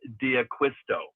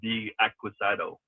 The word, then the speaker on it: Diaquisto: Eckleberg and John Diaquisto, not D Aquisado.